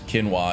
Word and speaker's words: Kinwa: I wanna say her name is Kinwa instead of quinoa because that's the grain dish, right?